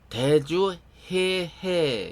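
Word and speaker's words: 대주 혜해: 원래 그 본명은 대주 해해 해가지고 그 해자가 그 지혜 해자에 끝에 글자는 그 바다 해자입니다. 그래서 대주 해해 이렇게 발음해야 되죠.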